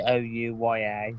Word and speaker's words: OUYA: Oh, I'm gonna call it the OUYA. Oh, the Ouya. Oh yeah, that's it. It's basically you pronounce it like two O's and yeah at the end. It's like ooh yeah.